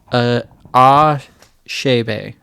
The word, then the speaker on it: Achebe: Looking up how to pronounce Achebe or whatever, it's Achebe.